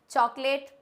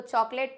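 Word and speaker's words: chocolate: चॉकलेट बिल्कुल गलत word है। इसको चॉकलेट प्रोनाउंस ना करके हम इसको बोलते हैं चॉकलेट। क्या बोलते हैं? इट्स चॉकलेट नॉट चॉकलेट।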